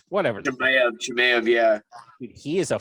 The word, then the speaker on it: Chimaev: How the hell do you pronounce his name? Is Chimev, whatever. Chimaev, yeah.